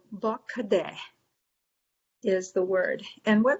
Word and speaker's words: bakade: phonetics that we use the a's sound like uh and the e sounds like e so bakade is the word and